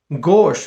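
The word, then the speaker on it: gauche: गोश pronunciation is गोश which means clumsy, बहुत ही acquired, भद्दा.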